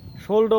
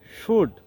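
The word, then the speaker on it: should: কিন্তু এটিকে আমরা অনেক সময় সোল্ডও বলে থাকি। আসলে এটি ভুল উচ্চারণ। এটার একচুয়ালি যে সঠিক উচ্চারণ সেটি হল সোড।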